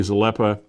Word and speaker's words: Zalepa: of Niagara-on-the-Lake, and Gary Zalepa. Am I pronouncing Gary? I'm sorry. Am I pronouncing Gary's name correctly? Yeah, no, you nailed it.